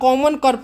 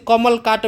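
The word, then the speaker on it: common carp: आसान भाषा में इसे कमल काट भी कहते हैं। तो कमल काट जो होता है कि ये गलत प्रोनाउंसिएशन है। इसका सही नाम जो होता है क्या होता है? तो कॉमन कॉर्प होता है।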